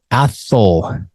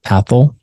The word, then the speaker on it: Athol: Okay, Athol. Yes, that is how you pronounce it. Athol. We get a lot of questions about that. Athol. No, Athol. Think asshole, but take the S out.